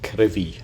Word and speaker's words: Crovey: Below us now is what they call Crivy, or Crovey as it's spelt, but the locals call it Crivy.